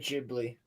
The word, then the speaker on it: Ghibli: They don't have a G. They have a J Gibli.